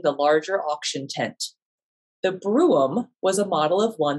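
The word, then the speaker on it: brougham: a coach was sold it is called a broom although some pronounce it as broom it was on display along with two other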